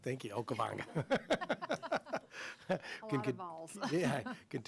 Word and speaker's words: Okavango: to continue to migrate along the I cannot pronounce the name of that river for the life of me. Okavango. Thank you, Okavango.